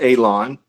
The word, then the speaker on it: Alon: My name is Alon, pronounced like you're gonna cut grass, like you're gonna cut a lawn. It's not spelled that way, but it is pronounced that way.